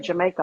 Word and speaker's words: Jamaica: It's never I'm like Jamaica like the country.